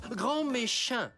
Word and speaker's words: Grand Méchant: appelez monsieur grand méchant ça se prononce grand méchant et ça sera au